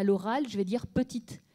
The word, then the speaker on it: petite: À l'oral, je vais dire petite. À l'écrit, on va mettre le E. Et le E, fin de mot, il doit être en noir. Ce n'est pas une lettre muette.